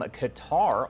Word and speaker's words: Qatar: a live look from Qatar or Cutter depending on how you pronounce it here as the